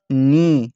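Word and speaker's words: knee: لا ناو بعد مثل ني شوف ما جا يلفظ الكي ليش لانه كي اج بعدها حرف الان فلا تلفظ الكي سايلنت فتصير ني ناو ني واضح طلاب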